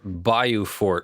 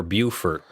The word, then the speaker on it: Beaufort: Just so you know, it's pronounced Beaufort or Beaufort locally. Okay, yes. This is important. Okay. In Beaufort, South Carolina, Beaufort, North Carolina. Okay. They're spelled the same but pronounced differently.